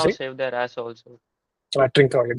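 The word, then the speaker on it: Trincão: Trincao, that is what I was like pronouncing as Tranquilo, but yeah, I meant Trincao.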